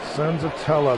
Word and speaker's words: Senzatela: Senzatela, that is how you pronounce it.